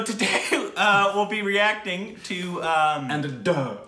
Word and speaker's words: Andhadhun: How would you pronounce Andada? There's an N at the end of hold that. Hold on. Andadhun.